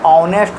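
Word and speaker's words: honest: ऑनेस्ट जो है तो एच कसोनेंट से शुरू होता है। लेकिन जब हम उच्चारण करते हैं तो ऑनेस्ट होता है। औ का उच्चारण होता है।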